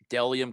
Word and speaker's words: Bdelliom: My other sponsor, Dellium Clothing. Dellium, it's spelled Bdelliom.